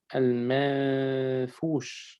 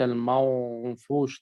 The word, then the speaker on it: المنفوش: وننتبه إلى ترقيق النون المخفاة والغنة في المنفوش ترقيق وليس المنفوش تفخيم. منفوش.